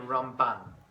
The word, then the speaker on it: Ramban: It's Rambam and Ramban. How you pronounce it, how you pick it up, right?